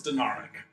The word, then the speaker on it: Denarik: So how I had intended it to be pronounced was Denarik.